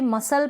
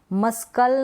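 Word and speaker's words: muscle: facilitate मसल facilitate मसल अब यहां पर भी मसल पढ़ रहे हैं मस्कल नहीं पड़ रहे हैं मतलब सी को प्रणाम उस नहीं करें सी यहां पर साइलेंट है एस और सी जब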